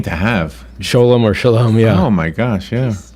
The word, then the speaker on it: Shalom: a great question so Shalom you would typically think sha LOM right that's the the Hebrew pronunciation of the word peace or hello goodbye as said in Hebrew but Sholem Park is